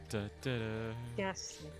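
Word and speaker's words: Gastly: It's Ghast. There is no R. It's Ghast. Ghast. Ghast. Ghast. Ghast. Ghast. Lee. Ghastly.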